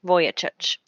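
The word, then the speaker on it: Vujicic: is Nick SEC uh last name is spelled kind of differently so I'll spell it for you it's v u j i c i c voyageur and um I've heard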